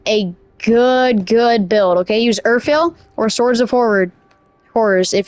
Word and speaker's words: Urfael: Am I pronouncing that? Urfael, it's Urfael.